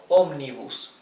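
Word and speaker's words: ómnibus: You see that this has 3 syllables, yes? Omnibus. The accent is in the third starting from the last, right? All the Spanish words whose accent is in the third syllable starting from the last one, 1, 2, 3, yes? All those need to carry a tilde here, right?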